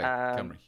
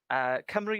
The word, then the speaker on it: Cymru: Okay, Cymru. Cymru is the country. Plaid means party. Grant. Cymru, that's how you And pronounce that. Okay, it's not yeah, Simru then. no. Cymru. Welsh is it's a relatively phonetic language.